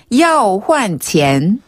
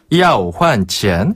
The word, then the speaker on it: 要换钱: 그래서 要换钱. 要换钱. 한 번 더. 要换钱. 와, 이건 쉽네요. 要换钱.